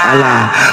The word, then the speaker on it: Allah: a bacanya Asa giliran a tamb l tamb+ l tamb a tamb h bacanya apaah alah bacanya Alah kenapa kenapa tiba-tiba kayak orang